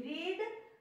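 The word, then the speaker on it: read: तो देखो यहाँ पे एक जैसी होती है, रीड, रेड और ये रीड, ये हम पढ़ते तो एक जैसा है, लिखते तो एक जैसा, लेकिन केवल इसका प्रोनाउंसिएशन हो जाता है रेड।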